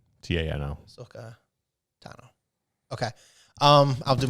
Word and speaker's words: Tano: Tano. Tano.